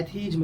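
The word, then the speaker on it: atheism: Pronunciation सही से बोलना है, एथीज्म कहेंगे।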